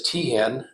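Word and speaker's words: Teahen: o-c-k-e-n-f-e-l-s Peter is p-e-t-e-r his last name is Tian and that's spelled t-e-a-h-e-n so Peter was unfortunately in the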